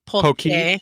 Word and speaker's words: poke: It's pronounced usually incorrectly up there, but it's poke.